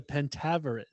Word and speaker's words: Pentaverate: it's the Pentaverate. Oh, the Pentaverate. So the Pentaverate. So that's how you pronounce it.